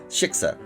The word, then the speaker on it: shiksa: And then Mel says, "Well, if the biggest shitska in the world..." I'm just saying it right. Shiksa. "Well, if the biggest shitska in Hit the K hard. Shiksa.